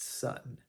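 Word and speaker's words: 寸: In Japan, it's slightly different, and the kanji is pronounced sun, if I'm saying it correctly.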